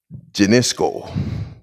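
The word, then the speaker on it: γινώσκω: It's spelled G-I-N-O-S-K-O. Genisco.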